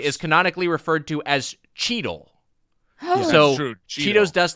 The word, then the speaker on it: Cheetle: The Cheetos dust internally is canonically referred to as Cheetle. So that's true. Cheetos dust they call Cheetle. Like Don Cheadle, but spelled with a T.